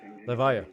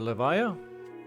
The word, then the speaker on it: Levia: levia is super fun leev leev I keep saying her name wrong but levia leevia gets my vote as